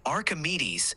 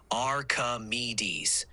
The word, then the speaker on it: Archimedes: maybe the schwas sound you're absolutely right the schah sound is more like an a sound and it doesn't correspond to a specific letter in Archimedes the C part contains the schah sound Archimedes the r is more of an R sound and me is definitely a clear e sound thank you for catching